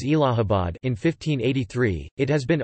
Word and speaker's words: Allahabad: To commemorate Din-i-Ilahi, he changed the name of Prayag to Allahabad, pronounced as Allahabad, in 1583.